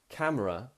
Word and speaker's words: camera: why you've asked that, but a lot of it is how you make the sound. Camera, camera. Now compare that to the word be or swim. Swim, camera. Swim, camera. A little bit different.